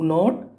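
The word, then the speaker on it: know: वो सर्कल करना है नो तो नो में के साइलेंट होता है तो के को आपको सर्कल कर देना है जब नो बोलते हैं तो के की आवाज नहीं आती उसमें सेकंड क्या है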